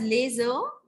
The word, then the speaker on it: yeux: Both eyes together are called laser. And we pronounce it as laser and they are written as YEUX.